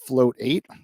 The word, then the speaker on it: float8: about float 8 and float8 it's like meditate oh I've been saying it wrong yeah since the beginning I was too and then I was like that's clever I yeah like rotate rotation if FL advice it